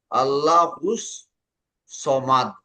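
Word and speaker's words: الصمد: কিভাবে পড়বেন বড়পা? সমাদ, দন্তা স পরে তো আর আকার নাই, এই জন্যই আল্লাহুস, আল্লাহুস সমাদ।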